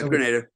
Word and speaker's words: Grenada: back to um like Granada or Grenada how do you pronounce it is a Grenada or Granada Gren yeah Grenada what was that like